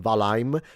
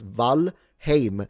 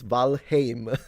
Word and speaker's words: Valheim: I'm so looking forward cuz Valheim remains and please stop saying Valheim. It's Valheim. I literally asked an old Norse expert. Thank you. It's Valheim. It's not Valheim.